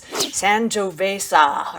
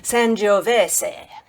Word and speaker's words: Sangiovese: to the lady on Google, it's the American pronunciation and it's Sangiovese or something. It sounds ridiculous, so I listened to an Italian person say it, and it's Sangiovese.